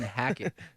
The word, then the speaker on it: Hackett: going to say I was saying hack it that's right yeah that is right see why you make